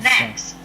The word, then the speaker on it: next: Maybe, Phuc, I would like you to pay attention to this k-s blending sound in the word next. And next.